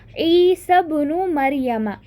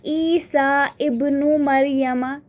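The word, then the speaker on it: عيسى ابن مريم: Then we have another example, ibnun, ईसा बुनु मरियमा. हम ऐसे पढ़ेंगे ईसा बुनु मरियमा. We won't say ईसा इब्नु मरियमा. It won't be like this.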